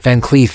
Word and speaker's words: Van Cleef: To pronounce it accurately, break it down: Van Cleef is pronounced as Van Cleef, with a soft K sound and a gentle emphasis on the in Cleef.